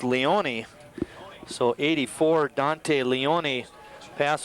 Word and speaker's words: Leone: we go any further i was calling dante leon his name should be pronounced leonie so 84 dante leone